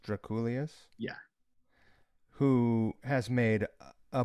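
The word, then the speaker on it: Drakoulias: anyone that's listening george i is his name pronounced draculus yeah who has made a bunch of records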